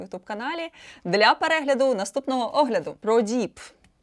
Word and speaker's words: Prodipe: ProDeep – французький бренд звукового обладнання. У Франції назва бренду вимовляється ProDeep, таким продовгуватим «і». В Америці, в Німеччині його вимовляють як ProDeep, а в Польщі – ProDeep.